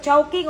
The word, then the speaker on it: Chowking: Halo-halo sa chowking o halo-halo sa manginasal? Basta. Unsay tama nga pag-pronounce sa chowking o shoking? Chowking.